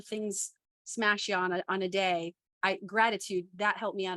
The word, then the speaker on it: Dey: So my name is Day, and it's spelled DEY. So Day, DEY.